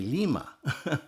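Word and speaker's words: Thelema: He is best known for founding the religion of the Lima uh or sometimes pronounced the Lima. There's numerous other pronunciations. This one kind of corresponds to the modern Greek pronunciation.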